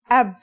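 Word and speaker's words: أب: It's pronounced ab. This is the word for father in Arabic.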